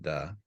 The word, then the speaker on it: Tao: One who follows Da, remember, T is actually pronounced Da.